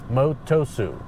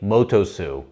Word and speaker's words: Motosu: It's called, let me get the pronunciation right. So, it's called Lake Motosu. Motosu Motusu.